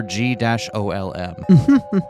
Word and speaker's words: G-OLM: Much to his surprise, this ends up being pronounced like Golem anyway. On a side note, GTM-CM-G-OLM stands for Golem Type Male. Cockney model number G-OLM.